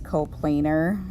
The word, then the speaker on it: coplanar: a plane it's pronounced coplanar and you can kind of almost find the word plane in there coplanar points that lie